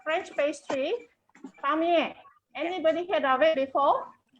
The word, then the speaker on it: Palmier: Palmier. Anybody heard of it before? Remember, my pronunciation is not that accurate. No, it's good. Palmier, it's good.